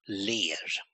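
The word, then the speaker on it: ler: times of 99 in Swedish smile is um pronounced lay and with an l l e r and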